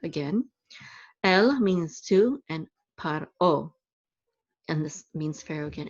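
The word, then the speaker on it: פרעה: El means to, and Paro, and this means Pharaoh again. And notice here it's Pharaoh with like a F sound, and here it's Paro with like a P sound.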